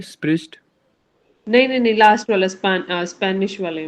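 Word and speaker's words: Spanisch: स्पष्ट वाले में स्पिरिस्ट नहीं नहीं लास्ट वाला स्पेनिश वाले में पा इट इज स्पानिश स्पैनिश इसमें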